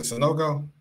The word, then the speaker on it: Sanogo: So for him, Sanogo, Mike, is that how you pronounce it, Sanogo?